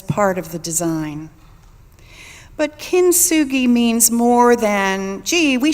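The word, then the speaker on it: kintsugi: several people have said how do you say that word you sure it's kin sugi it's the 15th century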